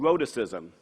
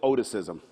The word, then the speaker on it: rhoticism: It's called rhoticism, or as I called it, oticism.